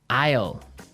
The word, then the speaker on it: aisle: l e Isle Isle it's a tricky word it sounds like the contraction of I will yeah but it's spelled so strangely right we don't pronounce the S the S is silent